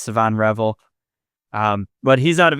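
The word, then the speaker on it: Shavon Revel: in the first round, my dream scenario is Savon Revel. And first of all, I'm told that's how his name is pronounced from people a lot smarter than me. I've been saying Siobhan Revel for a long time.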